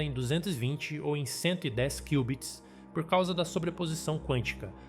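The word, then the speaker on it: qubit: Só que antes de te explicar, você sabe o que são cubits? Você provavelmente pensou que era um erro ou uma falha na Matrix, mas essa é a pronúncia do equivalente aos bits do computador convencional.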